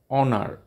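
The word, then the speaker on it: honour: not uh pronounced here honest and honor H is not pronounced and our h o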